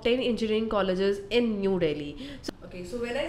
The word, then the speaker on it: Delhi: said about the city Delhi Delhi is basically the one I'm talking about is New Delhi that is the capital of India and it's been basically pronounced as uh in as dilhi and it is the